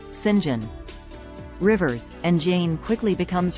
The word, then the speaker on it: St John: are Mary Diana and Saint John pronounced Sinjin rivers and Jane quickly